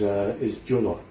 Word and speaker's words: Gyula: It translates as acorn, and my first name is Gyula, which means sort of translated into Julius.